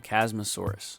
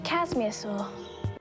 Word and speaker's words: Chasmosaurus: it's going to be a chasmosaurus but pronounces it like this she's a casasur and then proceeds to